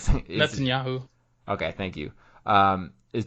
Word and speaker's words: Netanyahu: and then as of today on wednesday uh natalya netanyahu i i can't say his name but like netanyahu okay thank you um is determined to keep